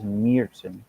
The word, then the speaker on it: Märzen: So they say the correct way to say it is Märzen.